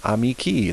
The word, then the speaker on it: amici: nominative plural ending is the letter i' with a long mark pronounced e as in seared we fill ee amici the slaves the sons